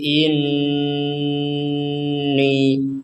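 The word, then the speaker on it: إنّي: Kalau disambung lil malaikati inni. Di sini ada nun bertasydid. Kita dengungkan. Ditekan dan didengungkan.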